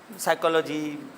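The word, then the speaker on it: psychology: ये P silent है, ये वैसे आपको पता होगा, ये इंग्लिश ग्रामर और इस लैंग्वेज की का उसूल है कि अगर पी के बाद कोई वॉवेल ना आए तो पी साइलेंट हो जाता है। बहुत सारे हैं ऐसे, साइकोलॉजी। अब ये है नमूनिया आपने सुना होगा, नमूनिया, और भी बहुत होंगे।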